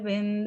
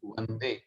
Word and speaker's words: वंदे: अस्तु, आपने उच्चारण अच्छा किया, थोड़ा सा ध्यान रखना है, बंदे नहीं वंदे, है ना, ये वंदे कई बार। वंदे हाँ जी, ठीक बात। वकार और बकार में अंतर, ये थोड़ा।